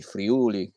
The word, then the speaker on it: Friuli: Succede che nel frattempo eh questa è la regione, come viene indicata, dalla guida del Touring Club che ha bisogno di mettere l'accento sulla U, quindi Friuli, mi raccomando, non come Paolo VI dirà per il Terremo se il Friuli.